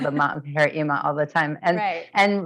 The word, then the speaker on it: Eema: They called her EEMA all the time. And really they spell it, which is how you spell it traditionally, but I just knew in North America, at least, people would say.